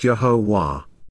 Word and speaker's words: Yahowah: It progressed with the realization that God's Shem name is pronounced Yahowah.